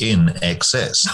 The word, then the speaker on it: INXS: on the album cover that said pronounced in excess um because they thought that people were too stupid to look at you know i n xs and and realize that